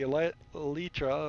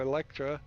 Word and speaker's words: Elytra: Like, I still haven't figured out how to use the Elytra or Electra, whatever, Elytra I think is how it's pronounced.